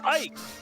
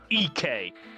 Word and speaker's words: Ike: funny yeah yeah ollie the wiki video for who is ike pronounced him as ek that's um yeah also